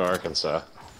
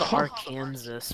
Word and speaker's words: Arkansas: Just don't go to Arkansas. So bad in Arkansas. Uncle Frederick, what are you doing? It should be called Arkansas because Kansas is called Kansas.